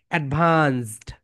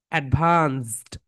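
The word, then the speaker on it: advanced: Last sound আমাদের উচ্চারণ করতে হবে বল। ডভান্সড সাউন্ডটা কেন আসতে হবে? ওকে? লাস্ট সাউন্ডটা এখানে নিয়ে আসতে হবে। বল এডভান্সড এডভান্সড।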